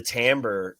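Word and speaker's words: timbre: the inside is nothing but foam uh the tamber in these the tamber so tamber is a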